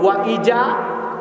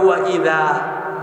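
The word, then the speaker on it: وإذا: যেমন এই যে পড়লো ওয়া ইজা লাকুল্লাযিনা, এই যে ওয়া ইজা পড়লো বাংলা উচ্চারণ, কিন্তু এখানে আলেমরা আছেন, শব্দটা হলো জাল, নরম হয় তাই না, জিহ্বার আগা দাঁতের আগায় লাগে, এটা হবে ওয়া ইদা।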